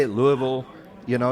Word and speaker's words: Louisville: it I say it Louisville you know you kind of roll it Louisville how do you say